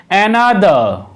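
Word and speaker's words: another: Viewers, এই ওয়ার্ডটিকে কিন্তু অ্যানাদার উচ্চারণ করা হবে না, কেননা এই ওয়ার্ডের শেষে যেহেতু আর লেটারটি রয়েছে, সেই কারণে এখানে আর লেটারটির উচ্চারণ সাইলেন্ট থাকবে। সেই কারণে এই ওয়ার্ডটির উচ্চারণ হচ্ছে অ্যানাদার।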